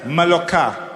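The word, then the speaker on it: Mallorca: Couple of years ago, we're on our way to Poeta Palenza. Maloka, that's how you say it.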